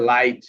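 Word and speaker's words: light: কখনো কখনো জিএইচ শব্দে উচ্চারিত হয় না। যেমন এইযে লাইট এখানে জিএইচ নাই।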